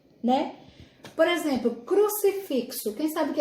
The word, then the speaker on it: exemplo: exemplo exemplar o exemplo exemplo também uma palavra que se escreve com x mas tem um som de z né por exemplo crucifixo quem sabe que